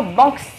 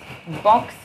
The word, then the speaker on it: Banksy: On va se concentrer sur Banksy. Banksy, j'ai toujours du mal, hein. Ça s'écrit B-A-N-K-S-Y.